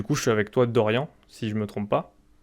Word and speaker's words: Doryan: Et du coup, je suis avec toi, Dorian, si je me trompe pas.